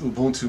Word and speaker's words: Ubuntu: at home nice very nice no it's it's pronounced ubuntu Martin how defrauds rust they give it this